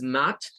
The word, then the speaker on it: math: diga math class, math, con el AE y el TH sin vibración al final, math.